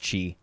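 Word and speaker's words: Qi: And yeah, chi, like, Q-I is pronounced chi.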